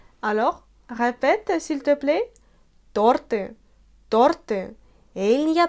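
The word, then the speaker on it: торты: Les Russes prononcent de temps en temps tarty, mais ce n'est pas du tout correct. Il faut mettre l'accent sur la voyelle O et non pas sur la voyelle U, comme on le fait de temps en temps.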